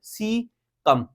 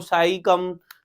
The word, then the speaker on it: caecum: ई की निकलती है सी कम ठीक है इसको साई कम सकम इस तरह से नहीं कहना सी कम सीम कोलोन